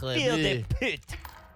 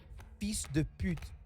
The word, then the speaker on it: fils de pute: Yeah, Fille de pute. yeah, you're trying. How do you say it? Fils de pute.